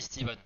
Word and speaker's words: Stephen: Ça se dit Steven.